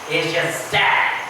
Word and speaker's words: exegese: Apesar de não ter acento, o G é aberto. Exegese.